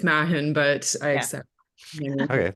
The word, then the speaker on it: Mahon: has been on the show before, and Mahon, who is a criminal defense attorney in Vancouver. Thank you both for coming on. Is that actually how you pronounce your last name? No, it's Mahon, but I Yeah.